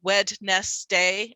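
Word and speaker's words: Wednesday: so how many kids we teach to say wed nest day in order to help them spell it so we do that here phi oh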